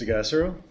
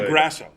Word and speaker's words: DeGassero: DeGassero. That's how you say it. Yeah, you could say it any I thought it was which way. DeGrasso. Well, that would be the one incorrect pronunciation.